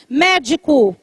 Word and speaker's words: médico: médico. Médico também é proparoxítona.